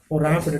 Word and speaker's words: wrapped: Then it's tattered and torn, dirty or wrap, and the baby was wrapped. W is silent, wrapped, rounded and moved round and round.